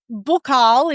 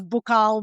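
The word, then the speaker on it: buccal: cash flow retention so bookal is how I pronounce it because I was trained in Paris so in Paris all we said was bookal the whole time Australians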